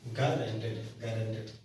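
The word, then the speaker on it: guaranteed: नहीं, GUA होगा, GUA RANTED single हाँ, GUARA गारंटेड, मतलब यू साइलेंट है ना, गारंटेड।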